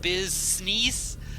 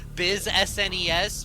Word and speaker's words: BizSnes: my name is business I've heard like Biz sne Biz SNES because people don't pronounce it the European way even though I'm from like I said Milwaukee Wisconsin it's the way that I've always pronounced it so cuz it's like nests from from uh Animal Crossing